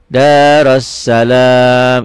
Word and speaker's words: Darussalam: Darussalam, I-nya nggak usah karena diputus.